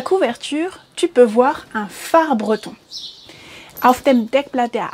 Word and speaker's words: phare: tu peux voir un phare breton. Auf dem Deckblatt der Abenteuer von Kaz kannst du einen Leuchtturm sehen. Ja? Und das schreibt man auf Französisch mit PH, also P-H-A-R-E, phare, le phare.